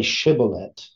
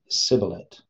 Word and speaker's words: shibboleth: know it's the pronoun pronunciation of the letter shin right so they can't say Shin they can only say sin right so they can't say shiblet they can only say sibilant right it has the giladites